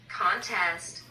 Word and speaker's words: contest: contest contest contest contest contest contest 이게 이제 명전동후라 해 가지고 앞에 엑센트가 가면 명사고 대회 컨테스트 동후 뒤에 엑센트가 가면 경제하다가 돼요.